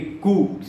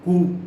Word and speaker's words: coup: जो कू किया, मिलिट्री कू, COUP, मैं रिपीट कर रहा हूँ बार बार, कूप नहीं होता है, कू होता है, COUP, कू। ठीक है, जो कोयल कू करती है ना, वो वाला कू, उसको प्रोनाउंस करेंगे, लिखेंगे COUP, कूप। ठीक है, बोलेंगे कू।